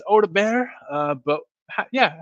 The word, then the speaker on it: Odobert: of people call him odbert I don't think that's correct I don't think the t is pronounced I think it's Oda bear uh but yeah how